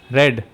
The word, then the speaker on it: read: read read okay and this is pronounced as red just like the color red okay know this difference